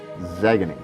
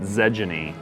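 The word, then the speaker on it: Xegony: That's the one that my guildies tease me because I always make it Zegany. I've heard X on G. I've heard some bad ones on that one. Xenergy. Because of the soft G and oxygen.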